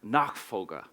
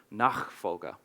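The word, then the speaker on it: Nachfolge: book which I'm reli reliably told by my brother is pronounced nak fga I think apologies to any German speakers in the room nak fga and that means succession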